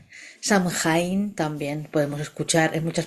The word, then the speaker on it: Samhain: La fiesta es llamada Samin, escrita de esa forma pronunciada Soen, Samaín, Samhain.